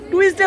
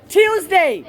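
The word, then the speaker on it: Tuesday: মঙ্গলবারকে কি বলি টুসডে বলি মঙ্গলবারে কি বলি তাহলে শুদ্ধ উচ্চারটা কি হবে টিউসডে টিউসডে টিউডে তাহলে এই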